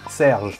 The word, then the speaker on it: Serge: Decilo, por favor, ¿cómo se pronuncia? Serge.